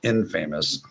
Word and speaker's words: infamous: The Three Amigos, Infamous. It's pronounced infamous.